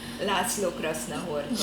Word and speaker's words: László Krasznahorkai: Sorry, the Hungarian author, and I don't know how to pronounce his name. László Krasznahorkai.